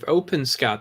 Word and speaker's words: OpenSCAD: been messing around with openscad or open s-cad however you want to pronounce it um it's a bit